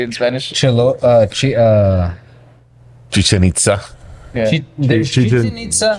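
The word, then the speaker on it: Chichén Itzá: Chichen Itza.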